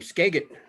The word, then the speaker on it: Skagit: heart and you know there's another new name skagit i love that did i say it right